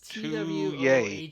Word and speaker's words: Twohy: It's Twohy. Twohy. Like this right here. Twohy. Yeah, it's fucked It's up. easy to misspell it.